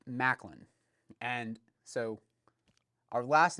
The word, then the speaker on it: Maklin: tell you how to pronounce it so it's pronounced Macklin and so our last name is Hamlin my